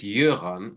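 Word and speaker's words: Jöran: your because in in in Sweden it's yuran with j in it's written in the same way but pronounced y yeah yeah and in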